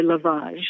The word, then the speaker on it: lovage: Oh, I always say lovage, but a lot of people say lavage.